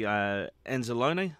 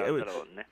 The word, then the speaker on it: Anzalone: Anzalone. Is that how you say it? Mm-hmm. Yeah, G. Yeah, Anzalone.